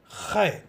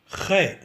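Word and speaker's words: خاء: I am sure everybody knows how to gargle. We will do the same exercise when pronouncing Khe. Let us practice gargling. With this, we will have to add the sound of K. Then it will become Khe, Khe, Khe.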